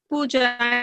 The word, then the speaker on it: Pooja: Pooja, is it pronounced Pooja? It is Pooja.